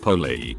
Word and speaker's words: poli: Now polite in French is poly, pronounced poly.